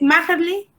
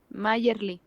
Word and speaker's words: Mayerly: Ok, ¿es Majerli? Mayerly. Majerli, ok, es que no me acuerdo si la J es la o Majerli, me acuerdo que me dijo que con el acento en la A.